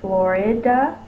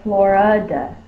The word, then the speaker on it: Florida: long and it's not we can say Florida which is the short eye or Florida Florida which is the schwa so we could have two schwab in the word hope you stay for